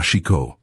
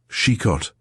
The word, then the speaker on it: Chicot: Chicot. There was something taking in the sound, two short, crisp syllables, tripping lightly off the tongue. Chicot.